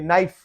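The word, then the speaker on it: knife: है, तो यहाँ पे इसका के साइलेंट है, इसको हम पढ़ेंगे नाइफ।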